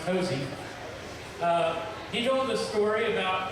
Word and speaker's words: Hosea: our grandpa, Hosea Ballou, Spelled Hosea. Hosea, of course pronounced Hosey.